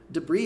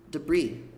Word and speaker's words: debris: Debris é pronunciado assim, ó. Debris. Debris. Mais ou menos isso mesmo. Como se o S não existisse. O S tá lá na escrita, mas na prática ele não é falado.